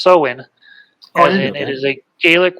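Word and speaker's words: Samhain: what made me think about that is uh Sam Hayne is not pronounced Sam Hayne rather it's pronounced sohen and it is a Gaelic word unless a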